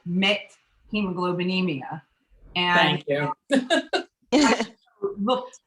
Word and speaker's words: methemoglobinemia: I'm a medical technologist, and I'm sure that the condition that some of you are having trouble with how to pronounce it is called methemoglobinemia.